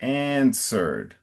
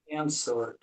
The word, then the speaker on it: answered: And I think you you said something closer to ans- answered, but the emphasis is on the front answered. answered Okay, thank you.